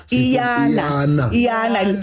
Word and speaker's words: Iyana: So makune And we must pronounce it correctly because it's Iyana. Iyana.